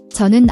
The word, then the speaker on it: 저는: The J in geo is a soft J sound, like in jeans, not a hard CH.